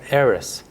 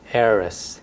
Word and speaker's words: heiress: the first one is heiress so the the initial h is silent heiress heiress a woman who inherits